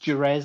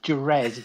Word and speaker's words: Jerez: much right okay and it's pronounced it's pronounced duraz actually oh is it really okay yeah yeah English version come on you read jerez though he's the red that's